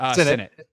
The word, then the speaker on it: Sinnott: And I'm saying Ben Sinnott, right? And that is how you say his last name, right? Sinnott. God, see, I was right.